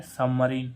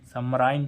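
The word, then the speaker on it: submarine: होना हो रहा है सबमरीन सराइन तो नहीं हो रहा क्योंकि आई के बाद एक व्यंजन छोड़कर ई आ रहा है और एक व्यंजन छोड़कर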